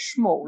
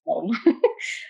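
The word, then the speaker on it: Smol: I always want to say it like this, Schmoll, but it's not. I think it's just Small.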